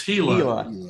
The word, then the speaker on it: Gila: want to go to gila or is it called pronounced gila or gila it's hela okay really nice oh yeah